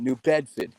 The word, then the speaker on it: New Bedford: That's how they say it. New Bedford. Yeah. You lose your R's.